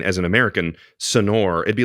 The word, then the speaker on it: Sonor: in my entire life it's not sonar sonar son soner to me is like really what it is everything else feels like indulgent son sonor it's like sounds like snor it's just like sonar let's get to it